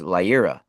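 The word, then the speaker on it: Leiria: that's the the the bishop of Fatima is Lia right lia lia it's spelled uh l e i r i a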